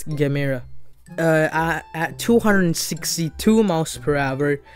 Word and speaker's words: Gemera: the Gemera, or the, I like to say Gemera. I'm pretty sure that's how they spell it in Swedish, and that's how we say it in German. So I'm pretty sure it's Gemera.